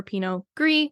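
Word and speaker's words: Pinot Gris: see anything pinio or Pino gree which is g r i s they are the same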